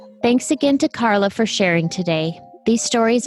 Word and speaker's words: Karlai: And it is pronounced Carla, right? It is Carla.